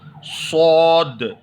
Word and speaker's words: صاد: تھوڑا گول کریں گے، تھوڑا سا منہ کو گول کر کے اس کی آواز کو پر پڑھنا چاہیے، پر یعنی موٹا پڑھنا چاہیے، صاد۔ کیونکہ سین، سا، سین